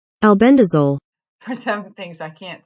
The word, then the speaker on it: albendazole: And this is, I'm going to go to my pronunciation. Albendazole. Albendazole.